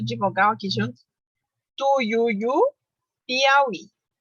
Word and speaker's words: Piauí: Tuiuiu, Piauí. Continuam com acento na última sílaba, porque elas são oxítonas.